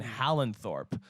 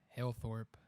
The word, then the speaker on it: Halethorpe: the Guinness brewery in Holland Thorpe is that how you say it Hale Thorpe Halethorpe okay I don't know why I thought there was an end in there maybe there is